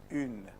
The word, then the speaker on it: une: You pronounce oo. Keep your mouth in the same position. Don't let your mouth move. Keep it there for 2 seconds. After that, you pronounce E.